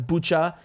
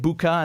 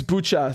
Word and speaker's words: Bucha: um coming out of bucha i'm really annoyed because i heard the uk ambassador calling it buca and then i started pronouncing it like that thinking she must have it right because she's going to